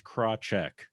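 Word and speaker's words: Krawczyk: Easiest way to say it is Krawcheck. The CZY. Crotcheck? Yeah, the CZYK Wow. is a check sound for easy. Wow. If you have a Polish accent, like my grandfather loved his Polish heritage, it actually is pronounced more along the lines of Krawcheck, but trying to say where the F and no, Krawcheck is fine.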